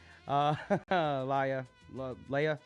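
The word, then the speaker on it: Laja: It was the L-A-J-A. I was like, the J is silent, apparently. Okay. Leia, sorry.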